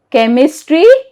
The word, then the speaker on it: chemistry: Okay, H is silent after a C in chemistry, mechanic and school.